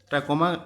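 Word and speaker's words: trachoma: टू अ ट्र चोमा टैकोमा actually इसको pronounce करते हैं मे बी कई लोग टोमा प्रोनाउंस करते हैं खैर और फर्स्ट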